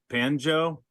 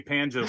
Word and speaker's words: Panjo: understand some girl repeated it and she said banjo was this a Spanish lady did you just say panjo and I want you to call me panjo from now on and then I caught on